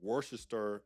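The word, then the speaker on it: Worcester: very very different life ivonne's from worest England yes that's the right way to say that and she's responsible for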